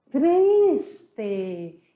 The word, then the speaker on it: triste: Depois nós temos triste. Ele está triste. Ele está triste. E se escreve igual, mas a pronúncia é totalmente diferente. Triste.